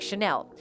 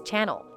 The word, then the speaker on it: Chanel: She would insist on luxury brands like Chanel, which Marlon admittedly mispronounces as Channel.